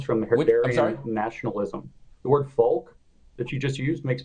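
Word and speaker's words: Volk: it with a spell with a v but it's pronounced folk right and he had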